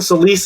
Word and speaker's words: Solis: gaming and that right the soulless is fine Solis is the Hispanic way but they're both right so look okay awesome